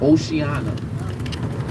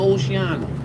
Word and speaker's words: Oceana: The number one place I recommend is a restaurant called Oceana. So it's spelled like ocean with the A at the end.